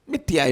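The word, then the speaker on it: मिथ्या: Mithya you can say at the most, as Swami would say. Mithya will pronounce as something else, Westerners will pronounce it as something else.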